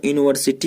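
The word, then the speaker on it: university: ठीक है, तो यहाँ पे यू है यानी यह है, हिंदी में क्या है ये व्यंजन है। तो व्यंजन मैंने बताया आपको कॉन्सोनेंट के पहले अ का प्रयोग किया जाएगा, तो यहाँ अ यूनिवर्सिटी हो जाएगा।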